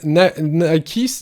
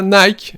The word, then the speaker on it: Nike: Parce que c'est le nom de la déesse. Ça se prononce Nike, voilà.